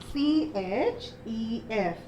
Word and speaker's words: chef: C-H-E-F. How do you pronounce that word? Yes, we pronounce that word as chef.